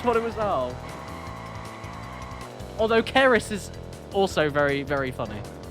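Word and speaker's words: Ceres: spelt c-r-e-s oh oh c-e-r-e-s oh keris oh i thought you i thought you said c-r-e-s like crest i thought about crest bandicoot oh kerris oh it is less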